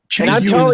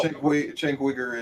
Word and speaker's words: Cenk Uygur: Cenk Uygur is actually pronounced Cenk Uygur, actually, I believe.